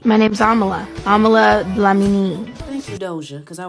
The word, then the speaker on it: Dlamini: My name's Amala Dlamini.